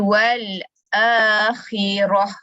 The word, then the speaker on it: wal akhirah: Asal perkataan wal akhirati, tapi ti tu tak ada bunyi. Dia jadi wal akhirah.